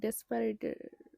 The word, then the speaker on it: disparate: এইসব ক্ষেত্রে, বা ডিসপারেট, এটা আবার ডেসপারেটের মতো না, এটার বানানটা হচ্ছে DISPARATE, ডিসপারেট মানে অসম বা ডিফারেন্ট অর আনরিলেটেড।